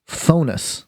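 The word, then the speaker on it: Phthonus: now in Greek mythology phonus I believe is how you pronounce it was the personification of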